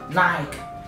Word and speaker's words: Nike: Nike. Nike. There's two syllables.